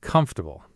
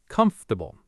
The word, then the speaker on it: comfortable: Comfortable. I always say com-for-ta-ble. Four syllables, but it's three. Comf-ter-ble.